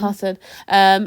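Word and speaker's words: Karssen: I always say it wrong because of how it's spelled. Casson or Cusson? Carson.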